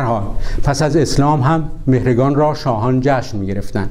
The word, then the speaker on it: مهرگان: عرب ها چون صدای گ ندارند مهرگان را مهرجان تلفظ می کنند.